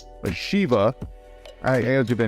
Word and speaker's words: Shiva: With the DLC, it gave you 3 new characters: Max, the original character from Streets of Rage 2, Sheva, or Shiva. I got that name wrong.